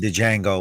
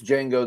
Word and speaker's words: Django: one, Django, which is the only one that I like. Okay, you're saying it wrong. It's Django. The D is silent.